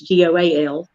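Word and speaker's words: gaol: They pronounce it Gael. It's Goal in Ireland.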